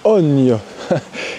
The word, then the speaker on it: Hogne: promenade de la ogne ça ne se prononce pas oune mais ogne et alors juste ici